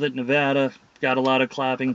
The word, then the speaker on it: Nevada: the state for the love of god please pronounce it as nevada because what it is it just grates on my nerves and others as well when people say nevada you know quite a few years ago in